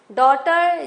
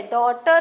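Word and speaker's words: daughter: honest H silent है डॉटर जी H silent है डॉटर हम बोलते हैं आर्स एस साइलेंट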